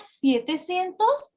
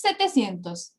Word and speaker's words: setecientos: We don't say sietecientos, it's setecientos. Are you understanding? You can write it down. Setecientos, not sietecientos. And novecientos, not nuevecientos.